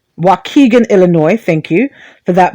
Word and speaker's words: Waukegan: from the system uh the way you pronounce the place that it happened is waukegan waukegan illinois thank you for